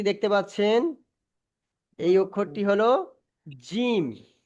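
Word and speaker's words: جيم: আচ্ছা তারপরে দেখেন এই যে অক্ষরটি দেখতে পাচ্ছেন এই অক্ষরটি হল জিম এ অক্ষরটি কি এই অক্ষরটির নাম হল জিম জিম জিম একটু চেপে উচ্চারণ হবে এই অক্ষরটির নাম হলো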